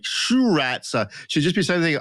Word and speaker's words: Sriracha: What do you do with the first R? Basically, don't pronounce it. So just sir. Yeah, Sriracha. Sriracha. So you're mispronouncing it. You got to pronounce the R, surely. I don't think you do. It's more like a sure.